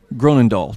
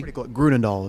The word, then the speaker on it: Groenendal: are visiting with groaning Dolph did I say your name correctly Gruden doll is how I would pronounce it okay